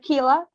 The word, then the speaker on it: Kyla: i think kyla uh keela you can pronounce my name with key lights okay he lie okay